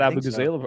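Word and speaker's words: Abughazaleh: Abu is that how you pronounce it? Yeah. Okay. Cat Abu Gazala.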